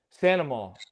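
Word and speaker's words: St. Amant: How do you get Santa out of St. Ammon? That's to me that makes sense though cuz you dropped the T. Santa like that's French. That's like normal.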